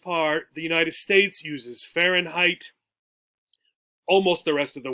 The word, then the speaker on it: Fahrenheit: That's how you say it, Fahrenheit.